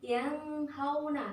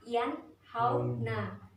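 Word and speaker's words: ينهون: Jadi ada nun mati bertemu sama huruf H, maka dibacanya jelas, bukan yang hauna tapi yanhauna ya.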